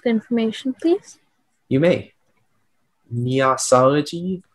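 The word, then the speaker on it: neossology: 134 your word is neosology neosology may have off the information please you may neosology also neasology is a noun which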